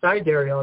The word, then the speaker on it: sidereal: This Sidereal, or Sidereal is how it's actually pronounced, is the most popular form in the world, especially by the Vedics, who use this system.